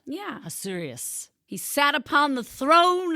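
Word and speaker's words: Ahasuerus: Hazerus. It's like there's an a in front, but it's like Hazerus. Yeah. Assurious.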